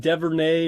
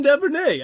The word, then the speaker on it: Duvernay: Yeah, Bateman and that Devernay or Dever or something. so hot at pronouncing stuff. You know who I'm talking about, man, because he showed up on the waiver wire. You're like, Devin Duvernay.